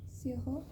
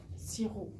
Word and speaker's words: sirop: Alors, le sirop, on prononce pas le P. Sirop, Sirop. C'est bon. On dit pas le P.